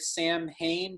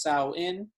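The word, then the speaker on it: Samhain: kind of looks like when you write it sam hayne but actually it's pronounced sao in and uh and sawin begins essentially summer's end and the in the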